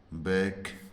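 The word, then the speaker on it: back: आ रहा है तो उस सी के में के साइलेंट होता है उसका उच्चारण नहीं होता है केवल केवल सी का उच्चारण के होता है जैसे आर ए सी के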